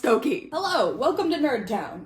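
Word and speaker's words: Stokoe: yeah it's spelled staco but trust me it's pronounced stoy hello welcome to nerd town so this is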